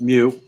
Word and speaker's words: mu: is a greek letter greek letter is pronounced mu we're going to remove